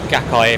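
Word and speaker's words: Gaikai: flying by with the the acquisition of of gaki that's how you pronounce it from Sony that there is a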